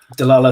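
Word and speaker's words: Dlala: directors on board as well how are you pronouncing that studio name de la la studios de la la oh okay i don't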